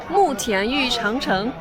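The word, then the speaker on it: 慕田峪长城: how do you pronounce the name of this place? 慕田峪长城 Thank you.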